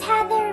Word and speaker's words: Heather: just like we do my name is heather which rhymes with feather amphibians compared to skin